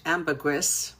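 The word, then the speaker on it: ambergris: So amberree it's actually pronounced in English amberress but in French amberree you don't pronounce the s.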